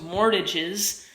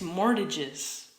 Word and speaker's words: mortgage: can't pay back those mortgages it's mortgages more mortgages it's not more to get mortgages mortgage the T is silent right that's what I